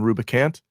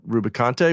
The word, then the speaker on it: Rubicante: for about 30 years I was calling him Rubicant and not Rubicante, which makes sense because he is Picante.